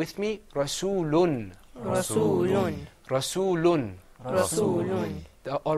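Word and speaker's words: رَسُولٌ: gonna say muhammadun and instead of saying rasulu you're gonna say rasool hoon you guys think you've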